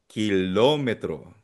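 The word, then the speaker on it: kilómetro: This one kilometro. Nabangit. Nabanggit ko na on'tg word na 'to last time 'di ba? Merong uh asento sa O kapag sa Spanish kilometer.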